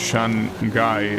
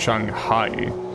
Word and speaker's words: Shanghai: thinking of the worst Shan guy that I'm pretty sure it's not pronounced like that, it's pronounced Shanghai. And even though all this time I pretty much was saying it wrong, right?